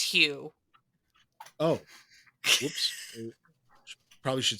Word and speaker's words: Hugh: I'm sorry, did you say huge? Because his name is pronounced Hugh.